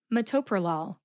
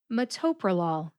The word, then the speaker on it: metoprolol: Metoprolol. The second syllable, to, gets the emphasis. Metoprolol.